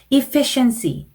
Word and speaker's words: efficiency: 그리고 efficiency, 요것도 efficiency라고 잘못 발음하시는 분들이 많습니다.